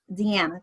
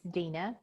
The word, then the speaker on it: Dina: And so we have, and please correct me if I said this wrong, but it is Deanna, correct? It's Dina. Dina, my apologies. Spelled like Deanna, so it's my mom's fault.